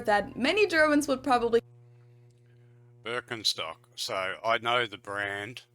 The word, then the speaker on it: Birkenstock: their native accent so English speakers usually say Birkenstock in German we say Birkenstock Birkenstock Birkenstock which literally translates to Birch stick the roots of the